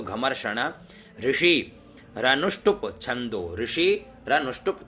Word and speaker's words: घमर्षण: माधुच्छ छंदसो माधु आधा च तो माधु छंदसो घमर्षण घ म श के ऊपर र और ण तो घमर्षण ऋषि रनुष्टुप छंदो ऋषि